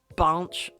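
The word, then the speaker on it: Binche: I believe they call it binch, but it's spelt B-I-N-C-H-E, so binch it is.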